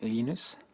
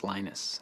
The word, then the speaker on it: Linus: Um, when I speak Swedish, it's Linus. When I speak Finnish, it's Linus. When I speak English, it's Lionus.